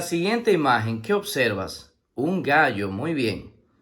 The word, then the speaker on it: gallo: Un gallo, muy bien. La palabra gallo se escribe con G-A que suena ga, doble L-O que suena yo. Gallo, gallo.